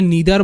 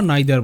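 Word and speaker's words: neither: আর এরপরে এটা দেখো এটাকে নিদার বলতে পারো বা নাইদার বলতে পারো এটাকে ইদার বলতে পারো বা আইদার বলতে পারো একচুয়ালি এটা ব্রিটিশ এবং আমেরিকান ইংলিশের পার্থক্য ওকে সো এটাই ছিল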